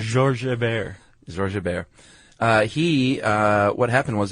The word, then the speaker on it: Georges Hébert: A French naval officer named Lieutenant George Herbert. I don't think that's how you say his name. What would you say in French? Georges Hébert.